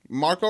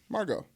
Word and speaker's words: Margot: for Maya Tania who Marco Robbie Marco Marco Marco Marco Marco oh I got it Margot is he silent T Margot Robbie Margaux Margaux yes okay welcome from I